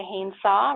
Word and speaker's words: Haynes-Saw: As mentioned, I'm Haynes-Saw, rhymes with chainsaw, and that's what I tell my students, I'm from the University of Calgary.